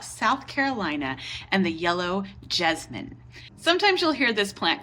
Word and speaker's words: jessamine: And actually, jessamine is the correct way to say it and spell it. So that's what we'll go with today, the yellow jessamine or the Carolina jasmine.